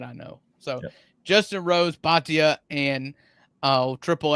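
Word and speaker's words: Bhatia: Uh, and of course, I'm not going to be able to pronounce this guy's name. Uh, Ash Batia. Batia.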